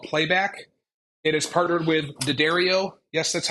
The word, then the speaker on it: D'Addario: It is partnered with D'Addario.